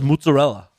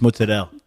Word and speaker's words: mozzarella: from Jersey she says mozzarella no no you don't say if she's from New Jersey I'm Italian you don't pronounce the a at the end of the word it's just moot Adele I mean I'm not